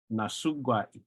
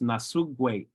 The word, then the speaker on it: nasugwat: You can also sometimes hear this word pronounced nasugwait. So there's more like of a sound at the end. Nasugwait. Nasugwait. So this again, differences in dialects.